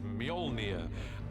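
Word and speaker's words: Mjölnir: The first challenge with a hammer is to work out how to pronounce it, which is Mjolnir in our movie at the moment.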